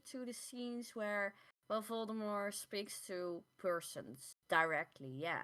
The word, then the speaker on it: Voldemort: Rowling decided to announce on Twitter, as she tends to do, that in fact the T is silent because it's it comes from French, which which apparently means flight uh flee from death or something like that.